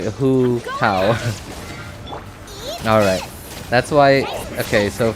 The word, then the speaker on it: Hu Tao: Alright, Hu Tao spelled with a W-H-O. Right, Hu Tao.